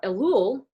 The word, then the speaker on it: Elul: and uh elul is the preparatory time how do you spell that e-l-u-l i couldn't find a one l